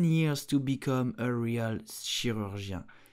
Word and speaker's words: chirurgien: You will say chirurgien. Chirurgien.